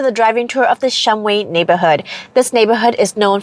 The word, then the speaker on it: Shumway: And by the way, the correct pronunciation is Shumway, but with so many people moving in within the last several decades, the pronunciation has morphed into Shumway, and I have seen people call it both Shumway and Shumway neighborhood.